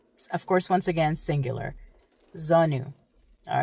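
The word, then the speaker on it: زانو: next one knees how do you say knees zonu zonu you're probably relieved that there's no in there huh okay Z zonu quite easy that is KN your knees KN zonu of course once again singular zonu all right next word next word is p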